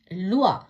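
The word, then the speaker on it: loi: எல் ஓ இ, லுவா, சட்டம்.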